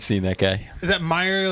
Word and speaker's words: Meijer: Is that Meijer, like was me. M-E-I-J-E-R? Yeah, there you Okay, go. I always wondered how to pronounce that.